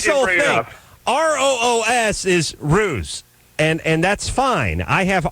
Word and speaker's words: Roos: R-O-O-S is ruse, and that's fine. I have R-U-S-S in front of me. And then it says and then it says it rhymes with goose.